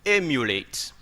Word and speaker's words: emulate: Here is to emulate, okay? Why do I say emulate? I say emulate because the stress is on E.